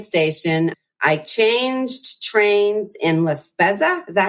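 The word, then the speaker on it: La Spezia: I changed trains in Laspza. Is that how you say it? Laspetsia. Yeah. Laspetsia.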